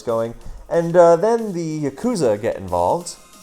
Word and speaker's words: Yakuza: And then the Yakuza get involved. The Yakuza, I believe, is the correct pronunciation.